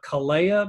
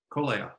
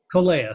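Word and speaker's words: Kōlea: So when I'm there, we love our time with the Poipu Rotarians, and I always pronounce it wrong. So I'm a Kalea member. Kolea. Kolea.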